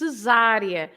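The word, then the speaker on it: Cesária: I think often people are pulled towards an Italian pronunciation, aren't they? So, Cesaria, rather than a more restrained.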